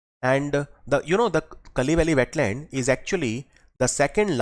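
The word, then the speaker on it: Kazhuveli: these will be opened in tamil nadu the kali valley wetland written as kazoo valley but pronounced as kali valley wetland in tamil nadu it has been declared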